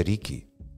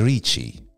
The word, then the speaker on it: Richie: Tra l'altro, cioè, scoop, non si dice Ricky, si dice Ricci.